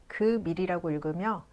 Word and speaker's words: 금일: First, '금일' is pronounced as "geum-il" and it is a noun.